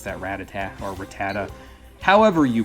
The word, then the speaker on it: Rattata: It's that Rattata, or Rattata. However you pronounce it. I think I call it Rattata, because that's what the anime said in the first season, so I'm just used to that pronunciation.